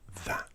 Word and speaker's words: that: That. This. That. You'll also notice most native English speakers don't pronounce hard T's, especially in the UK, at the end of words. So that becomes that. Lazy.